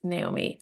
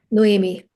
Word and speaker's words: Noemi: Like, let me just say this, Naomi, or how do you say your name? Noemi? Noemi.